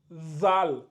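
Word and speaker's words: ذال: avons le Z pareil vous mettez euh vous mettez la langue au niveau des dents ça donne zal zal après nous avons le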